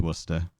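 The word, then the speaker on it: Worcester: wanted to blow like your mind for phonetic pronunciation just look at English place names like obviously the famous one is Worster and it's like how the F how you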